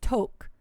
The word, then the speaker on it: tuque: type when when you look at the dictionary definition of a toot first of all it gives you the french pronunciation which is toke and it has like